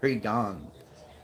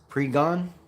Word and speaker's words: Pregnon: 5:22 40-yard dash for Emmanuel Pregnon. Pregnon. You can't say that. Pregon? Oh. So the other N is silent.